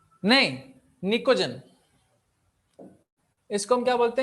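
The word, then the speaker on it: Pnictogen: तो इसमें P silent रहेगा, निकोजन बोलते हैं।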